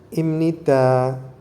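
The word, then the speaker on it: 입니다: Jadi ibnida itu ketika dilafalkan jadi pengucapan atau pelafalannya dengan imnida.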